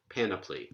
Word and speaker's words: panoply: opposite direction but anyway he says antepenultimate stress and I'm sure that that's the standard pronunciation panoply because again plus is